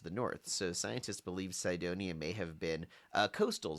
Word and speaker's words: Cydonia: One of the places they were looking at specifically was the Cydonia. I'm probably pronouncing that wrong. Cydonia, Cydonia region of Mars. I'd say like we pronounce cyan, like the color, right?